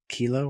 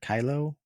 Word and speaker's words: Khleo: but it was played by, and I'm not even sure how to say his name, like it's KHLEO, like Kilo or Kylo Thomas.